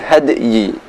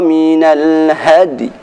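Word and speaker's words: مِنَ الْهَدْيِ: Maka pada bacaan ini pun cara ketika waqaf disertai dengan meringis. Famastaysara minal hadi. Famastaysara minal hadi. Bukan had tapi hadi.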